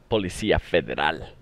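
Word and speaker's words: Policía Federal: Let me say that right. Policia Federal. That's how you say it.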